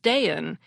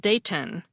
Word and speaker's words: Dayton: Ohio and says that people regularly pronounce the city as daen instead of Dayton she's also noticed her